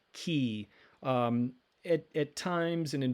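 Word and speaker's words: χ: haven't learned that word what looks like an x is pronounced key um at times and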